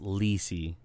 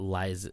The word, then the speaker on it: Lisey: It's pronounced Lisey. So it's not Liza, it's Lisey's story.